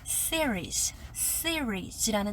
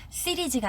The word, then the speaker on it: series: 그리고 마지막에 series라는 단어가 나왔어요. 시리즈가 아니라 series 이렇게 R 최선을 다해서 굴려주셔야 되는 그런 단어였습니다.